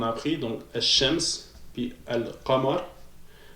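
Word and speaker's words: القمر: Donc, ça va être les lettres justement que on va prononcer le L. Parce que les lettres solaires, on ne les prononçait pas, on dédouble. Maintenant, avec les lettres lunaires, on va le prononcer justement, ok?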